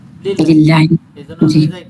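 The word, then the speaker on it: لله: জার যখন লাম যোগ আল্লাহ আসে তখন আলিফটা সাইলেন্ট হয়ে যায় এজন্য হয়ে যায় কি লিল্লাহি লিল্লাহি এজন্য হয়ে যায় কি লিল্লাহি তাহলে আল্লাহর স্ট্যাটাস কি আল্লাহর সাথে জের জের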